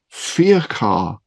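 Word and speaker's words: Feachar: makes sense no well it's actually Scottish is it really yeah it's Scottish GIC from and I'm going to murder the pronouncing ation here fear car f e a c h a r so it's Scottish origin and it means beloved man I I suppose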